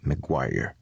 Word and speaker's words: Maguire: Un de ceux qui va fustiger et corriger la langue d'ici est Thomas Maguire, à prononcer Maguire, comme la rue à Québec.